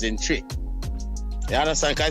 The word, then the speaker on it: Twi: to the pronunciations in Tri. You understand? Because it's not pronounced. Even though it's spelled T-W-I, it's spelled like a C-H. It's pronounced C-H, Tri.